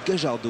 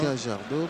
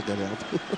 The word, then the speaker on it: Gallardo: On prononce Gajardo en argentin. Gajardo, mais comme nous sommes en France, je vais rester à Gallardo.